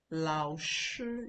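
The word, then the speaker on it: 老师: Lao Shi, you can see my pronunciation. Lao Shi, the third tone, the first tone.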